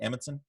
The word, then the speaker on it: Amundsen: Am I pronouncing that correctly, Stephen? Amundsen? Yes, that is correct.